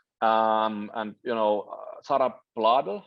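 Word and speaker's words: Blædel: and you know Sarah blood how do you pronounce the name bladder yeah sorry okay well well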